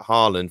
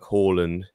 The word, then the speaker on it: Haaland: We've got situations like Haaland, for example, in Norway. They'll say like Haaland, but the family wants him known as Haaland because he was born in Leeds.